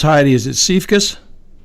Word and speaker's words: Siefkas: I should have really gotten the pronunciation of your name first. I know it's Heidi. Is it Siefkas?